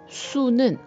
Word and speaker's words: sous: 쉬는 뭐뭐 위에 앞으로라는 의미이고 수는 뭐뭐 아래 밑으로라는 의미예요.